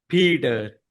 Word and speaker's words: Peter: And you're catching on to the fact that I didn't say Peter. I'm using what we call a flap T. It sounds like a D. Peter. Peter.